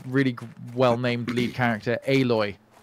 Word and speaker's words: Aloy: well- named lead character aloy aloy I love that one I love Alo name mean alloy no no I mean pronounce the a hard oh you're doing it